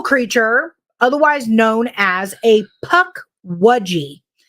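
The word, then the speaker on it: pukwudgie: otherwise known as a puck wudgie that is the correct pronunciation oh what somebody in here we're not going to any names I'm tired of y'all picking on me called it a puck Ouija y'all bullying me in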